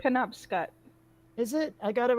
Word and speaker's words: Penobscot: pronounced. Penobscot.